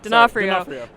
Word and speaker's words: D'Onofrio: No, D'Onofrio. No, D'Onofrio. Vincent D'Onofrio. Sorry, Vince Vaughn was at GaryCon. There we go. Yeah, sorry. But Charlie Cox and Vincent D'Onofrio are both here at this convention, and so